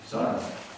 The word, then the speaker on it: Sarang: Accent the first syllable. Sarang.